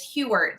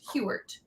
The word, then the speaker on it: Hughart: My last name is Hewart. So I like to say it's like Hugh Grant with an ert. Hewart.